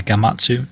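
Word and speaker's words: Gematsu: Jim Jamatsu or Gamatsu. I probably say Gamatsu. Gamatsu. Okay. So mystery solved there.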